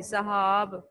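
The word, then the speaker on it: سحاب: فصل، فصل، صحاب، سین کے اوپر اور ہی کے اوپر زبر آئے گی، صحاب.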